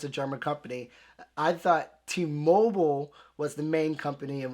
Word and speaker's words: T-Mobile: But even though it's English, it's pronounced differently in Germany and the US. T-Mobile versus T-Mobile. Why, I cannot tell you, but I do know that in the UK, people pretty much pronounce it like we do in Germany. They say T-Mobile.